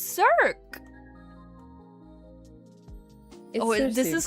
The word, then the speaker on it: Circe: Her name is pronounced Circe. I could be wrong. Hold on. What? But isn't the Greek goddess also named Cirque? Yeah, it's Circe from... Yeah, hold on. Circe? What? Yeah, it is Circe.